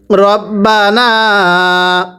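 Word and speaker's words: رَبَّنَا: সামাও এরপরে রবাবর বা রব্বা নুন আলিফ জবর না রব্বানা এটা যদি কেউ রাব্বানা পড়ি রকে রা পড়ি পড়া শুদ্ধ হবে না আমার সাথে পড়বেন রব্বানা আলিফ জবর মা এক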